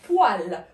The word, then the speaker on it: poêle: ولاحظوا معي كتكتب هكذا ولكن كتنطق poêle, poêle, d'accord, à la poêle.